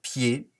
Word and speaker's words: pied: que je souligne ici dans le mot pied il y à là le des muets qui s'écrit mais qui ne s'entend pas le des deux pieds